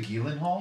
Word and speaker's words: Gyllenhaal: gu uh Jake Gillen Hall in it Jake Gyllenhaal why do you pronounce it that way it's not pronounced Gyllenhaal ghal yeah is it really Gillen Hall he did it he said it on a